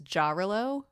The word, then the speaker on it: Jarillo: Okay, so I just looked up a pronunciation, and according to the internet, it's Jarillo. Oh. So neither of those are correct.